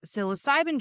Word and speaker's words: psilocybin: Um, and I've had several recently on this psilocybin journey.